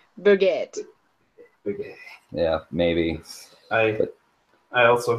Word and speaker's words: Burgat: pronounce your last name Berget Berget exactly as it looks and I'm I'm not entirely 100% sure that's the way it's supposed to be pronounced it's a French origin so bget yeah maybe I I